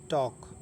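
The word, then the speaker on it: talk: सुकून चल आगे देखें टॉक टी ए एल के टॉक तो टॉक में एल साइलेंट रहेगा क्यों क्योंकि इसके बाद के है तो टॉक माने बात करना ठीक ठीक है?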